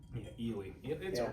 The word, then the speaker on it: Ely: it keeps going, but Ely. It's a cute little town. Yeah. Me and CJ went on and kept calling it Ellie because it made me mad because it's pronounced.